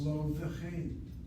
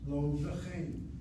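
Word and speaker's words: לא וכן: The vav comes along, shvana, and what you have is a shvana causes the bega kefir letter to now become spiral and no longer explosive. It's lo v'chein. Lo v'chein, lo v'chein.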